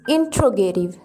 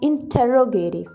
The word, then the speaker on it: interrogative: Actually, the correct pronunciation of the word is interrogative, not interrogative.